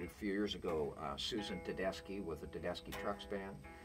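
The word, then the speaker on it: Tedeschi: few years ago susan tadeski with the dadeski trucks band and on the air before asking her i pronounced it tadeshi and at the break she quickly corrected me although they were two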